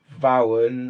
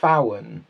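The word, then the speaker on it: Vauen: told me this that you don't say it vowon or Vaughan it's fawan Fallon I was just pronouncing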